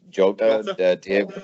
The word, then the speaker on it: Jota: How do you pronounce it? Jota, Diogo Jota.